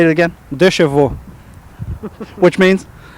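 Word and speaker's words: deux chevaux: Okay, you just pronounced the word. I want you to say it again. Dechevaux.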